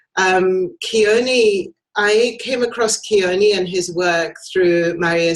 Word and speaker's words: Ke'oni: it's such a pleasure to have you here keaney and your company is it that's how you pronounce it yes it's called pohala is a